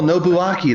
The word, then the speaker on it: Nobuaki: I don't remember in OBU a K o nobuaki that's what it was yeah that's right that's